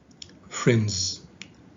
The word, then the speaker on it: friends: here the s okay when it is uh located after a voiceless sound a voiceless consonant it is pronounced so you say friendships okay whereas here it is located after a voiced consonant so it is pronounced in the phoneme friends okay let's continue now